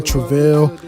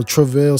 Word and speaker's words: Travell: It's like saying bruh, but with a T instead, and then Vale. So Travell.